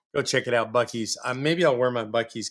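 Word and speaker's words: Buc-ee's: Though I have to admit, I was on a road trip this week, back and forth to Houston, and I stopped at Bucky's and picked up my first ever Bucky's cap.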